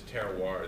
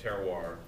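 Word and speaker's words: terroir: comes down to is is terar that that that that horrible French word that everybody thinks is spelled Terrier but there is is terar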